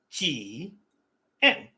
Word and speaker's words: Jian: It's not a difficult word to pronounce if you break it down. Ji en. Tien. Not that hard.